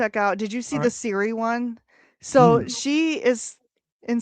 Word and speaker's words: Siri: She She was trying to talk to Siri on her iPhone, and she kept calling it Sherry. Hey Sherry. Hey Siri. She couldn't say it right, and she did clip that into two little shorts, and it is the funniest thing ever.